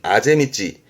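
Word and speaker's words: 畦道: 발음은 아제미찌.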